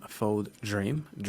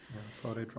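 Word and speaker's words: Fodé Dramé: But when I listened to this episode with Imam Fod Dream, I believe if I'm pronouncing that correctly. Drame, Drame, sorry. Imam Yes. Fode Drame. And it was a fascinating conversation.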